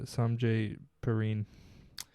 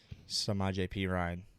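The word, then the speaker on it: Samaje Perine: And Samjay Perrine. Samaje P. Ryan. Samaje P. Ryan. Okay. You could say that however you want, but that's how it's I pronounced.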